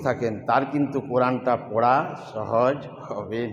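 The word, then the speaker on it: ثا: নুক্তা হলে তা, একই সুরতে 3 হরফ, উপরে 3 নুক্তা হলে সা, উপরে 3 নুক্তা হলে সা, সাটা তোতলা ভাব, জিভের ডগা নিচে দাঁতের গোড়ায় লাগাতে হবে, আর উপরের দাঁতের কিনারাটা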